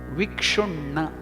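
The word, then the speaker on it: विक्षुण्ण: It is not SU. The pronunciation is not Su. It is Kshu. That is again retroflex, Murdhanya. Vikshunna.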